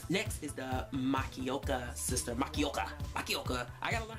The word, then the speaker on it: Makioka: that you know because japanese pronounced in japanese it is very cut cut cut you know what i mean it's like makioka you know you have to give it some emphasis to it i'm like korean korean